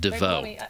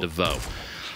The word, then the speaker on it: divot: Kitty plays a Creo here, a dusty, what's left of the depot above the divot, or if it's the fancy divot, we pronounce it DeVoe. The T is silent, DeVoe.